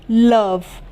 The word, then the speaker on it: love: उसी तरीके से लव, LOVE, लव।